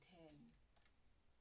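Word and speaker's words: тень: We say 10 with the soft N at the end. 10 like the number 10? Yo, that would be badass. It's like I'm gonna call myself Dame 10.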